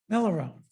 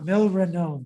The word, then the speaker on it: milrinone: Another drug is Millerone. Don't think I spelled that right. It's how do you spell it?